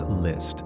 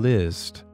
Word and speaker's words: Liszt: Three", composed by Franz Liszt pronounced List in 1850.